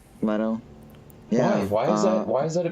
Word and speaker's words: Leto: Apparently, one of the like really big things amongst millennials is How do you fucking pronounce his last cuckolding. name? Jared Leto? Jared Yeah. Leto? Leto. Leto.